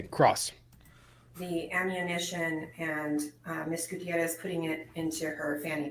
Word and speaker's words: Gutierrez: This is the only attorney who pronounces her name that way. And I get proper pronunciation, Gutierrez.